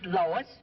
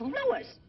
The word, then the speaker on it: Louis: the plant Lois Lois my name is Lewis not Lois he probably believes me name wrong it's Lewis l o u i s Lois uh Louise or